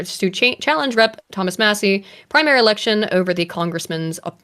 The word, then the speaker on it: Massie: it m Massie Massie I want to say Macy because the way it's spelled but it's Massie um should be primar